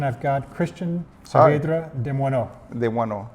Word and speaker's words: Desmoineaux: I've got Cristian Hi, Saavedra Desmoineaux. Desmoineaux. Desmoineaux. You pronounce it really well.